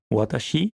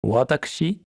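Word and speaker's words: 私: Premier kanji courant, je, moi, qui se prononce en lecture kun, watashi, ou plus poli, watakushi, et en lecture on, shi.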